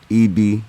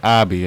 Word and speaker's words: Ibe: Yeah, It's Ibe. It's almost like the letter E and B, but it's spelled I-B-E. Ibe. I would have said Abi, and that's why I was like, what?